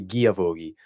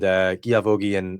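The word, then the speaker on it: Guilavogui: And to be honest, I've not been the best with pronunciation, because I believe it's probably Guilavoghi, but I've been pronouncing the L.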